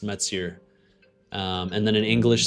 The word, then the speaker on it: Mathieu: Um because I am French Canadian, so my name is actually pronounced Mets.